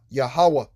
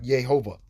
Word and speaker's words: Yahweh: Without the Masoretic text vowel points above these dots and dashes, above and below, it would be called Yah-ha-wah-ha, Yahweh. That would be the correct pronunciation. Okay, not Jehovah.